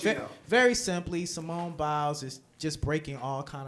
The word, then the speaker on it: Biles: Biles.